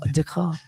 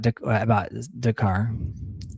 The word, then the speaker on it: Descartes: Descartes. So the letters that don't get pronounced.